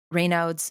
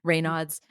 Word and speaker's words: Raynaud's: Like, some people who get Raynaud's syndrome, I think that I'm pronouncing that right. Raynaud's.